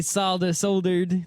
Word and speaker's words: solder: I actually soldered the board. It worked really well. It's pronounced solder.